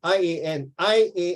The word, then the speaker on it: Ian: Ian, I-A-N is pronounced as Ian Wilmot.